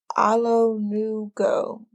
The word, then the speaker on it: Alonuko: Alanko, is it? Dang, I don't know. Alanko. I can't find it. But she's a beautiful. Oh, okay. Hold on. How you pronounce this? Alonuko.